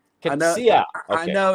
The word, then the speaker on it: Coetzee: Ladies and gentlemen, please welcome to the show, Coetzee. How are you? Hi there, Maurice. Thank you so much for having me on the show. It's actually Coetzee. Coetzee.